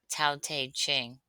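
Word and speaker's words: Tao Te Ching: pronounce taq ching.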